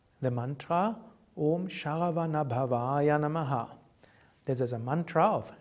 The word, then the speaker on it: Om Sharavanabhavaya Namaha: There are only two long syllables, Om and Va. So it's Om Sharavanabhavaya Namaha.